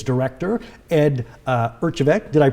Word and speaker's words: Erjavek: public library branches is its director ed uh urchevec did i pronounce that correctly yes you did a great